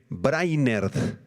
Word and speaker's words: Brainard: Se escribe Brainard, ¿verdad? Y en inglés se pronuncia brainard.